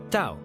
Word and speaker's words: Tao: First off, Tao, spelled T A O, but pronounced Dao literally means the way or the path.